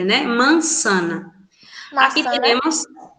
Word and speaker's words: manzana: Em espanhol a gente pronuncia sempre s, como se fosse SS ou C cedilha, né? Mansana. Aqui Maçã, né? temos, manzana.